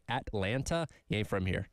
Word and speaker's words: Atlanta: which you also have here but people like pronounce the t's Montell no it's Monella just like there's no te in Atlanta it's Atlanta right when you're from Georgia when you're oh